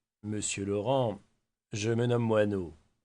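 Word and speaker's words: Moinot: Monsieur Laurent, je me nomme Moinau. Mon nom s'écrit absolument comme un moineau. M O i N o t moineau.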